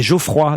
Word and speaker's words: Geoffroy: Non mais c'est pas Geoffrey, c'était Geoffroy d'abord.